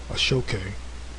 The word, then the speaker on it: aso-oke: It says an Aso-Oke hat, pronounced Ashoke, a type of soft fez, is a traditional Yoruba hat that is made of hand-woven African fabric.